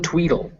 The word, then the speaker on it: Tweedle: Yes, also in Tweedle. So it's written Tweedle, but it's actually pronounced Tweedle.